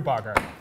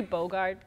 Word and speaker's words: Bogart: you kid casablanca Humphrey blogger I just did an entire it's Humphrey Bogart is how you pronounce bother very much hey